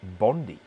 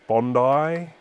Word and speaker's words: Bondi: his little moment um it is pronounced bondi after the beach okay now we're going